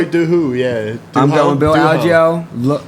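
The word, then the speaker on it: Choi Doo-ho: Choi Dooho? Is that how you say it? Choi Dooho, yeah.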